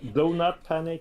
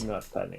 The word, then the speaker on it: Do Not Panic: Is it pronounced Donut Panic? Donut. Or Do Not Panic. It's a donut. That's the pun.